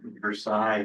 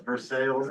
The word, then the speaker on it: Versailles: how you pronounce it, Versailles, is how you pronounce it in France, but I've heard a lot of locals, Versailles, yes.